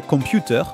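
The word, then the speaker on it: コンピューター: Vous voyez, il y a un petit trait juste après. Je peux vous le mettre en avant. Voilà, on a ce petit trait là, juste là. C'est pour allonger la syllabe, pour avoir 2 temps de lecture sur le son pew et ta.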